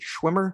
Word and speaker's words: Schwimmer: Is it Schwimmer?